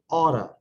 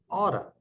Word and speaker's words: ought to: In pronunciation, you ought to often sounds like oughta. You oughta do something.